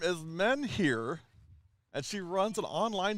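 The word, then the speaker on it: Menheer: now here is amelia men here and so her her last name is m-e-n-h-e-e-r it's pronounced men here and believe it or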